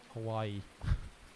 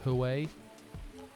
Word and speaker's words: Huawei: Hawaii. Hawaii. No, I'm gonna keep it with hello. They're actually a northern company. It's pronounced Huawei.